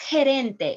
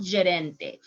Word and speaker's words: gerente: watch my video about how you are going to pronounce the g and the j in spanish is in the facebook page so it's gerente it's not giarente let's read this paragraph